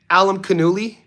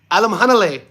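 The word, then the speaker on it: Alimkhanuly: in box boxing, but the minute I hear somebody pronounce Janbec's name Alam Canoli, Alum Canuli, I'm like, ah, this guy, I can't listen to it. Alam Hanle, what a beautiful name to say.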